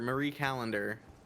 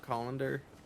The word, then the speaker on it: Callender: I haven't heard about that brand no calendar Marie Callender isn't it not colander it's c-o-l no but I'm saying I I